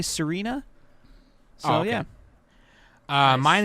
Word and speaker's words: Serena: Is it Pokemon Zarina? Is it's pronounced Zarina? Serena. I said Serena.